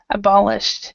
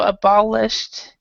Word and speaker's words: abolished: rule would be abolished so this would be kind of a a t- sound abolished now this one and